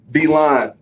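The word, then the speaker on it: Villon: all right classic classic i'm drinking v-line it's spelt like villain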